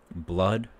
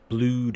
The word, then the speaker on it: blood: And then the two O's, double O, blood or flood. Not blued and flued.